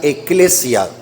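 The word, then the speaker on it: ἐκκλησία: en la Biblia es una palabra griega que se pronuncia eclesia iglesia en español proviene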